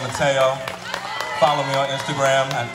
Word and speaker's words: Tayo: out and it deserves to be out. I worked hard on it. So yeah, once again, my Instagram is Tayo the Rapper, TEOTHERAPPER. It's Tayo, not T-O, say it right.